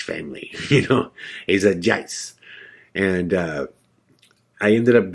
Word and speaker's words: Joyce: um oh it's spelled joyce j-o-y-c-e but they pronounce it jais they were like i'm the judge family you know he's a jice and uh i ended up going to this